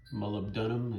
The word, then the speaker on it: molybdenum: I've also got some moly paste right there, which molybdenum is the correct pronunciation.